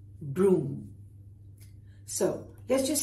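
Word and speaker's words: brougham: They were called broom.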